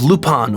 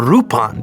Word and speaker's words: Lupin: Hard loopin the thir fans don't like that I pronounce the name Lupin instead of lupon or rupon because I watched the